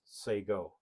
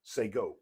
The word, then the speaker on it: Shekon: Shé is actually pronounced say go. Say go.